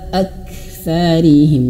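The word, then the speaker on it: أكثرهم: Hamzah itu jangan sampai kita bacanya terseret-seret ya. Perhatikan di sini. Ala aktsarihim. Nah itu diseret-seret. aktsarihim. Nah, bukan seperti itu, tapi ala aktsarihim. Jadi seolah-olah ada koma di sini.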